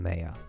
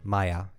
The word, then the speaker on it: Maya: Was a conversation between Chief and Mayor. Maya. I keep Sorry, I keep pronouncing like Mayo but like with an A.